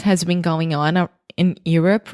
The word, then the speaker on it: Europe: a really redneck you're you're up you're up like it's your turn it's you're up you're up there we go I prefer Europe so much cleaner better